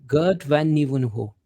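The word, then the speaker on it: Geert van Nieuwenhuizen: How you pronounce van the Nieuwenhoven. Nieuwenhuizen? Yes, indeed. Gert van Nieuwenhuizen.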